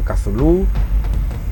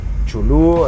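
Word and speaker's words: Cthulhu: proporciones realmente colosales llamado chulu Aunque realmente su nombre sería impronunciable siendo admitidas otras verbalizaciones como kazulu chulu entre otras muchas El caso es que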